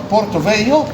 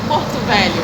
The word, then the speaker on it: Porto Velho: But so you Rudica come originally from Porto Velho. Did I spell it right? Brazil? Almost. Porto Velho.